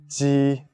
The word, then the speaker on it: ji: Ji, qi, xi. Good. Pay attention, the shape of your mouth is like a smile.